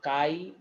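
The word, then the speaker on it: χ: नहीं है, इसको हम काई ए, ऐसे सी एक्स की तरह पढ़ते हैं, प्रोनाउंसिएशन काई होता है।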